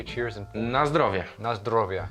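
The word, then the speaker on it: Na zdrowie: Nazrovia. Nazrovia.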